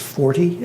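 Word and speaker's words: Forte: to a tentative agreement with one voice it's pronounced for t fo RT e she is a former director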